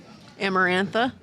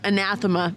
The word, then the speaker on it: Anathema: Amarantha? Yep. That's how you say her name? Oh, anathema.